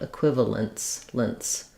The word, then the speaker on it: equivalence: Whether it has a t sound before the final s sound, equivalence lents. Equivalent, equivalence lents. It doesn't have a t.